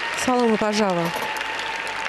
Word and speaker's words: Салома Пажава: Салома Пажава. Именно так произносится имя и фамилия этой девушки. Мне довелось беседовать с ней и с ее тренером, и я специально выясняла, как правильно произносить имя и фамилию.